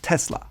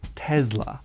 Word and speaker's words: Tesla: Well, Tesla was actually a Serbian-American immigrant and scientist, and they use a harder S. like Tesla. Americans oftentimes use the softer S, Tesla, versus Tesla.